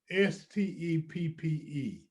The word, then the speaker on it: Stepp: And it's interesting the name is pronounced Step because we do provide a step in the right direction.